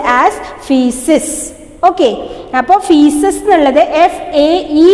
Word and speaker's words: feces: undigested food and make solid waste called feces, pronounced as feces.